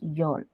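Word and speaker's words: Öl: Oil is called yol, pronounced as yol.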